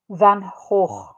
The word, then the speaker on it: Van Gogh: Vincent Van Gogh, we say that in North America, but the pronunciation in Dutch is Van Gogh.